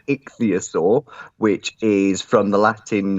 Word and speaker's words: ichthyosaur: me for calling you it's an itchy asaurus but it's not so it's an ichthyosaur which is from the